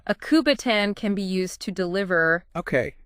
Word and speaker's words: kubotan: Speaking of self-defense, one source describes a weapon called a kubotan. Kubotan? I'm not even sure I'm pronouncing that right.